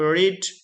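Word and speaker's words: read: अब रीड, जैसे कि रीड का हमने पहले ही बता दिया, रीड का रीड ही रहता है, बस उसको प्रोनाउंस करने में हम जरा ये कर देते हैं, बदलना चाहिए हमको, यानी डिफरेंट करेंगे। सो the book is being रेड, बाकी सेम है, बाय द यंग मैन।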